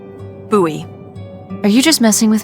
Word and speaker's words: Bowie: It's actually pronounced Buoie. What? No, it's like the last name, like David Bowie. Different last name. Buoy.